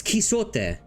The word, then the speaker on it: Quixote: It's Quixote. This is Quixote. This is my turn to speak. I'm Quixote.